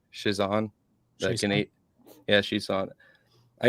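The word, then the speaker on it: Chiasson: Shizan.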